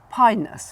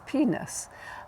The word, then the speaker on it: Pinus: working with us, and we say pinus when we're referring to pine trees, Pinus mugo, Pinus sylvatica, or whatever. And he always used to refer to them as penis.